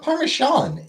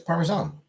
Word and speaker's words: Parmesan: Hate how Canadians don't put the sound in Parmesan. It's not Parmesan. It's isn't it? Yeah, I mean it's Parmesan.